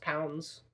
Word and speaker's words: LBS: It's pronounced pounds because that's what LBS is, or it's like, whatever.